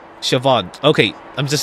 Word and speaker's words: Siobhan: how you say her name was Lady Siobhan Siobhan okay I'm just saying it like way too